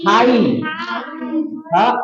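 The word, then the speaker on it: high: यहां तक पढ़ते है जीच को साइलेंट करते जीच को नहीं पढ़ते जीच को नहीं पढ़ते सिर्फ आई को पढ़ेंगे ठीक है आई अब आई के आ क्या आ गया एच तो क्या हो जाएगा हाई और आई हाई हाई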